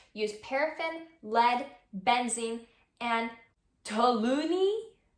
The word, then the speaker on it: toluene: Investigations into the making of scented candles show that most brands use paraffin, lead, benzene, and toluene.